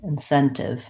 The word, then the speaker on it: incentive: for your word incentive second syllable stress four syllables just like a short word in in scent just like the word scent and then incentive incentive and we use a clear tea on that we don't change that one because it actually because it's starting this last syllable so stretch on the Sen incentive great good questions